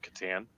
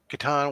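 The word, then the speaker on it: Catan: differently than you Rob I pronounce it Katan Settlers of Katan right yeah no problem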